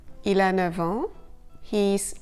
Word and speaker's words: neuf ans: But there are a couple of cases when the F of 9 is pronounced V, a V. Il a 9 ans.